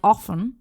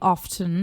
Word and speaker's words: often: Um, most people in uh the US pronounce it like often, but some areas pronounce it like often and the T is pronounced Yeah. And we also learned that in school that it's pronounced often.